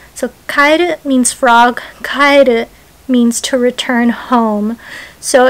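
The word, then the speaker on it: 帰る: So Kaeru means frog, and Kaeru, which might sound the same to some people, but it has a different emphasis on a different syllable in Japanese.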